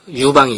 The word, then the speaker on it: 유방: 초나라 한나라 싸워서 유방이 이기죠. 한나라가. 여러분 장기판 아시죠? 장기가 뭐야? 초나라 한나라 싸우는 거잖아. 그거 아시죠? 그래서 결국 유방이 이기는 거예요. 유방 발음을 잘해야죠. 이런 유방이 아니라 사람 이름 유방이에요. 그래서 유방은 정말 대단한 거죠.